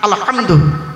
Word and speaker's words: আলহামদু: বলি আলহামদুলিল্লাহি রাব্বিল আলামিন আলহামদু গলার ভেতর থেকে উচ্চারণ করবেন আলহামদু এর বাংলা মানে